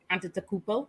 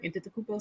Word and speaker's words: Antetokounmpo: We have Giannis Antetokounmpo. Did I say it right? Antetokounmpo, something like that.